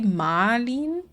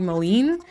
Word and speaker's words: Malin: Um, so I think the correct like objectively correct way to say it is probably Malin in like the German. Um, and I think that's how a lot of times it is pronounced. It's just mine isn't cuz my parents never call my parents always call me Molen, but people can't really remember that.